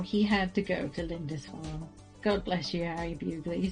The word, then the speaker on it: Lindisfarne: Lindisfarne. Okay, good, cool, great. Yes, said Harry, though he hadn't decided till that very moment. Now, somehow, he had to go to Lindisfarne.